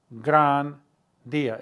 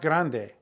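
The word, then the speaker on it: gran día: grandia or un grandia remember it's el dia so s grandia it's not grande s grandia it'll be a great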